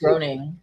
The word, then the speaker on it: Groening: I always pronounce his name wrong. Groening. I say Groening.